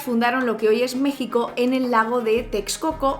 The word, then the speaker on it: México: Como hemos visto en el diccionario panhispánico de dudas de la RAE, México antes no se pronunciaba México sino México, pero en